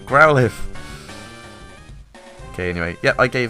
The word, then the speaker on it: Growlithe: things like houndare because everyone uses those and growlithe growlithe i keep i need to say it right growlithe okay anyway yeah i gave that enough chance